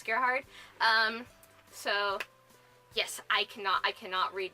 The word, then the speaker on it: Gerhard: I'm sorry for mispronouncing your name as Gerard when it's Gerhard.